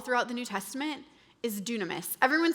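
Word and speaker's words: δύναμις: the New Testament is dunamis. Everyone say dunamis. Dunamis. looks like dynamis and it is where we get the English word dynamite but it is pronounced dunamis.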